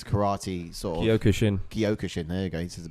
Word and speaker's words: Kyokushin: um oh this is a tough one to pronounce but it's a kaio kushin it's a karate sword kyokushin there you go this is better than i